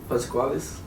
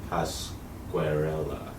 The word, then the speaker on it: Pasquarella: Like Randy from, how do you say it? Pasquales? Pasquarella. Pasquarella. Don't say it 3 times fast.